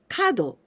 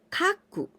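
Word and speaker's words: 角: this is corner but this kanji we can also pronounce when we pronounce tuna it means animal horns or antler also we can pronounce Kaku Kaku it means angle for example triangle we say and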